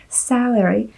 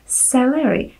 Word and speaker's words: salary: Avšak problém je, že já jsem později zjistila, že já jsem to slovíčko salary vyslovovala jako celery, což znamená celer.